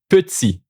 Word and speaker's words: petit: The letter T at the end of a word, always silent, okay? Comme petit, ici petit.